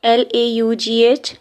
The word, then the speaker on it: laugh: लाफ, L-A-U-G-H, laugh, L-O-F, laugh.